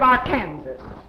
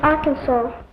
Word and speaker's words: Arkansas: And now we come to the state of Arkansas. Well? Please, it is pronounced Arkansas. What's that? Please, it is pronounced Arkansas. I know because I used to live there.